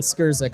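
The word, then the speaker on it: Skrzek: If you say Shrek, it sounds better than Skirzik.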